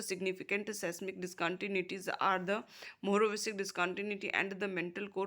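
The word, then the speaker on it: Mohorovičić: earthquakes and is named after its discovers a Morovicic pronounced as Morovicic.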